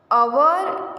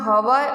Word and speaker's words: hour: यहाँ पर देखो अवर एंड ऑनेस्ट में कॉन्सोनेंस एच है,